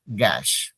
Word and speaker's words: gash: There is a difference between गैस एंड गैश। Gas. गैस, गैश, गैस, गैश।